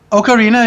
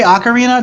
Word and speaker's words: ocarina: Ocarina means little goose. If you say ocarina, jump off a fucking bridge. So it's ocarina.